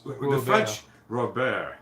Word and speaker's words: Robert: French, Robert, they keep the T silent.